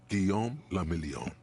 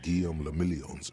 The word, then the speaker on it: Guillaume le Million: Guillaume le Million. Sure it did. If it doesn't rhyme, you're not pronouncing it right.